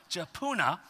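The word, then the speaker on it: Jephunneh: really hard on that and that's how it's pronounced jauna the the kenite said to him you know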